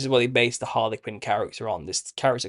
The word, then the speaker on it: Harlequin: It's pronounced Harlequin or Helikins prior to that.